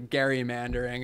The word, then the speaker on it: gerrymandering: here with Elbridge Gerry actually gerrymandering is is the correct pronunciation but I think it